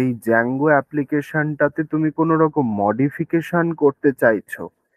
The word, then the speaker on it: Django: এবং এই যে ওয়েব ফ্রেমওয়ার্ক, সেটার নাম হচ্ছে জ্যাঙ্গো, সেটার নাম হলো জ্যাঙ্গো। জ্যাঙ্গোর স্পেলিংটা হচ্ছে DJANGO, জ্যাঙ্গো, ডি এর উচ্চারণটা হয় না, শুধু জে এ এন জি ও, জ্যাঙ্গো এটাই বলা হয়।